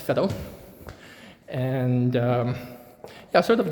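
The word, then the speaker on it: Veddel: called Fed um V E DD L uh pronounced Fed and um yeah sort of the industrial uh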